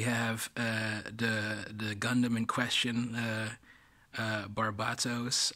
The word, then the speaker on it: Barbatos: Here we have the Gundam in question, Barbatos, I think is the closer pronunciation to the Japanese, in a fighting stance